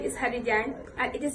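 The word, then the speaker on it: Haddy Jagne: My name is Hadijan and it is spelled as HADDY and Jan is spelled as JAGNE.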